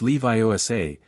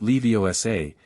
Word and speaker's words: Leviosa: It's Leviioa, not Leviosa.